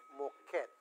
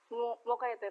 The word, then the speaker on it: Moquete: Makausap po natin si Moquet. Tama bang pronunciation ko sa last name mo, ma'am? Moquet o Moquete? Moquete po. Moquete, sorry po.